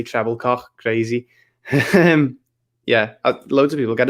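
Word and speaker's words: Trebilcock: Mike Trebilco, the BBC had to call him. They weren't allowed to say Treblecock.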